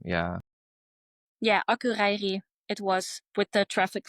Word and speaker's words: Akureyri: I think it was Akureyri. I'm Yeah, not I going was to saying pronounce this incorrectly, but yeah, correct. yeah, I searched that first name. Yeah. Yeah, Akureyri.